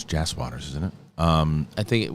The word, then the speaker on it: Jas Waters: to This Is Us writer James Waters. It's Jas Waters, isn't it? I think it's spelled, but they said it wrong.